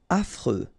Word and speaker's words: affreux: Affreux. Final X not pronounced. And then you get this freux, freux, affreux.